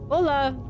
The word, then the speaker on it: hola: Hola, Spanish. Yep. The H in hola is silent.